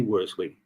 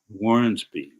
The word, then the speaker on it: Wormsby: any further ado, Sydney Wormley, our next speaker. Good afternoon, Phil. How are you? Outstanding. To you? Can't be better. I want to pronounce and make a correction. Wormsby, correct? Wormsby, right.